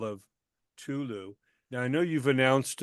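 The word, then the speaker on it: Cthulhu: the call of Tulu is it pronounced Tulu yeah Tulu yeah tul the four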